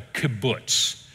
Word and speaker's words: kibbutz: communal establishments are called a kibbutz and that's how you say it you will hear that